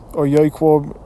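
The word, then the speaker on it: יעקב: Yaquab, Yasharal is how you say Jacob and Israel in the Hebrew.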